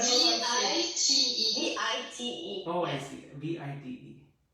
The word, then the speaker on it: vite: In French, it would be vite. Spell it?